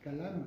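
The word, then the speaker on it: Kalamu: Tu prononces Kalam, ça s'écrit K-A-L-A-M-U. Voilà. Kalam. Kalam. Voilà. C'est comme de l'arabe.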